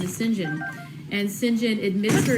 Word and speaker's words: St. John: But in my head, every time I see it printed there, I think to myself, St. John, but pronounce it St. John, because that's the British pronunciation, which I don't know